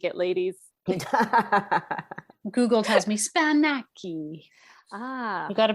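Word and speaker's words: σπανάκι: Don't take anything Spanaky is the Greek word for spinach. See, fake it till you make it, ladies. Google tells me Spanaki. You got to pronounce it with the right finesse.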